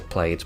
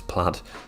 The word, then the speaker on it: plaid: plaid patterns and yes I used to pronounce it wrong as I played but it is plaid sorry about that and